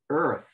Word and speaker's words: earth: So the EA is like pronounced one vowel. So in English, sometimes two vowels are pronounced as one. Sometimes, like Portuguese, the vowels are pronounced separately. But in English, it's more often they're pronounced as if it was one vowel.